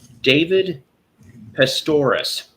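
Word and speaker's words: David Pastorius: David Pestorus, if I'm pronouncing that right.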